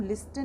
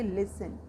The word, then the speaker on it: listen: LISTEN, इसको हम लिस्टन नहीं बोलेंगे, हम इसे बोलेंगे लिसन। क्योंकि टी इसमें साइलेंट क्यों है, क्योंकि टी लेटर से पहले हमारा S लेटर है।